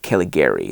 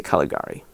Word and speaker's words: Caligari: i'm going to say caligari i prefer caligari it just sounds better to my american ears so i'm going to